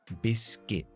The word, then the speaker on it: biscuit: pronuncia como una K, pronunciamos esa UI como una I, corta solamente. Entonces, por ejemplo, galleta, biscuit, biscuit.